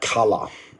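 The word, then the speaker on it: colour: more uh words like color color in and not color see color I dropped that R sound okay because it's non-rotic English and I don't pronounce the r at the end of the words and also the spelling's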